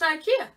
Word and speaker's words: IKEA: Now, it doesn't rhyme with hell, so it's just Ikea.